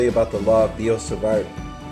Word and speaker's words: Biot-Savart: about the law of biot-savart I don't think you pronounce the T actually - the log feel